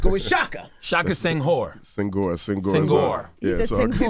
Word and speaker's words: Senghor: I don't know how to pronounce his last name, but I'll just go with Shaka. Shaka Senghor. Senghor.